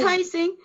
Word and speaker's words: Rising: Her name is Dawna Lee Rising. Or I'm saying it wrong again. No, it's Rising. No, I got to say it like 3 times.